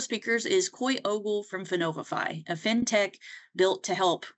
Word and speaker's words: Finovifi: Am I saying the name of your company right, Finovifi? Yes, you are. It's pronounced different ways by other people, but that is correct.